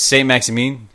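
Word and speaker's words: Saint-Maximin: signings, Tom, Alan St. Maximin. I don't know how to say this guy's name. No, you got it bro. right. Maxine, I think it is. It's St. Maximin.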